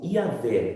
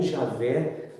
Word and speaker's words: Iavé: Então, quer dizer que aí é o Senhor Iavé, ou Javé, não tem importância a sua pronúncia, mas o importante que você sabe é que é o próprio Deus ali, tá?